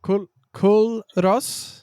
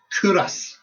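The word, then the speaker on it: Culross: So Kul Ros, so don't pronounce the L. So it's Kuras Kuras like a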